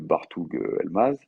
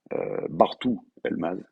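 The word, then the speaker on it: Bartuğ Elmaz: On refait le coup avec le petit Bartoug Elmaz. Bartou Elmaz, faut pas prononcer le G, hein, c'est comme un peu avec Erdogan, Gundogan, tout ça.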